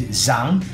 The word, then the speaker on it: Zhang: do speak a lot Zhang or how I learned to say his name is Zhang I speak a lot